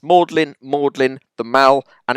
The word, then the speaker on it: Magdalene: It's Bowie, it's Rowling, it's Mannering, it's Plaistow, it's Holborn, it's Glams, it's Magdalene, the Mall, and it's pronunciation.